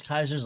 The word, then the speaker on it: Caesar: The They call themselves Kaiser's Legion. I don't know what to tell you. They don't go around saying Caesar. I was just saying it's not necessarily the correct pronunciation.